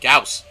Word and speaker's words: Gauss: I'm like, Gauss. It's a real word. They didn't make it up for the game. Gauss is a real thing. It's got a proper pronunciation. Gauss.